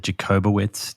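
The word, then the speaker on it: Jakubowicz: Was that the work of, was it Jacobowitz? Did I pronounce that correctly? That's correct, Daniela Jacobowitz. Yeah, let's come back to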